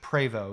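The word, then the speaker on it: Prevost: led by Sir George Po. It's spelled P re, but I read that it was pronounced PO anyway.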